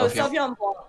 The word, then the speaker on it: Sauvignon Blanc: How would you say Sauvignon Blanc.